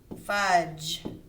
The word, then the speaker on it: fudge: They ate fudge. Period. DGE, soft G. J, J, J. Makes the J sound.